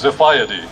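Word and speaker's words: Xiphiidae: Greek swordfish and it's spelled x-i-p-h-i-i-d-a-e and it's pronounced zafaya d is the late Paul Harvey might have said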